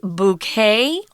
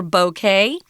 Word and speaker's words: bouquet: that we've adopted so you can choose the way you want to pronounce this bouquet or bouquet but it's just a